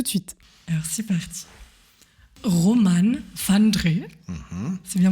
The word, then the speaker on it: Roman Vandré: Romane van Dree, c'est bien prononcé ?